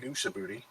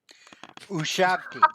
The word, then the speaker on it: Ushabti: We were fighting some big thing that come up out of the ground that apparently is called a big Ushabooty. Ushabti. Um, It is now. Ushabti. Ushabiti.